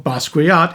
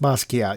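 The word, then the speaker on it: Basquiat: Watson in this movie played the title character in Germushia's film Basuat in 1996. It's just Bosat. You don't pronounce the W the U.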